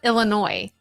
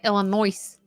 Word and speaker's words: Illinois: you were very close same yeah same with Illinois Illinois we don't say Illinois we say Illinoi but how do you say